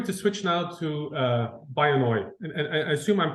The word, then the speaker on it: Byonoy: if we were to switch now to uh by annoy and I assume I'm pronouncing that correctly yeah you are actually which